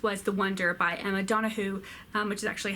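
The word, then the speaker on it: Donoghue: book I finished was the Wonder by a Madonna who which is actually how you pronounce it as I have recently confirmed this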